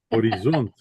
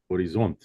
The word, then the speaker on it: Horizont: I'm no horizont except on the last syllable. Horizont.